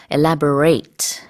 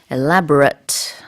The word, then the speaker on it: elaborate: 동사로서 쓸 때는요, 발음이 살짝 달라져요. 그래서 elaborate 이렇게 말을 하고요. 그 다음에 형용사일 때는 elaborate. 그래서 끝에 발음이 좀 달라요.